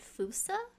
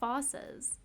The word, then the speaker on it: fossa: and they called them fossas and it's spelled like f-o-s-s-a which would be fossa so i don't know